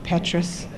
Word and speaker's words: Petrus: Petrus, did I say it right, Joel? Petrus.